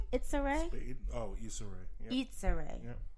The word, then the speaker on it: Issa Rae: Oh, Issa Rae. Yeah. Issa Rae. Yeah. Issa. Itza. Like Issa, like pizza.